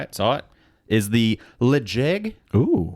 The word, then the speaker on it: Ledaig: Is the Ledaig. Ooh. Ledaig. Legit. Yeah, Ledaig 10-year. I'm going to spell it.